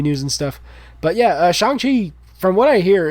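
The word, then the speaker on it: Shang-Chi: kevin feige has come out and said it's pronounced shanghi is the pronunciation they're going with i only know that because i follow movie news and stuff but yeah shanghai from what i hear it's really great um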